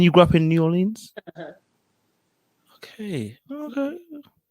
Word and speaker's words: New Orleans: new orleans yeah because it's making me roll my uh the r it's but it's not an r it's say it as a an aw new orleans new orleans there you